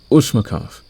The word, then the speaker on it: Ushmakov: The Ushmakov. Yes, that is the accurate way to pronounce it in your language.